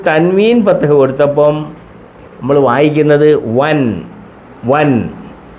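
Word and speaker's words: وًا: വാവിന് തൻവീൻ ഫത്തഹ് കൊടുത്തപ്പം നമ്മൾ വായിക്കുന്നത് വൻ. വൻ. അലിഫുണ്ട്, ഈ അലിഫിന് ഉച്ചാരണമില്ല.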